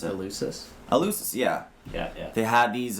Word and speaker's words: Eleusis: I always forget how you pronounce it. Eleusis, yeah.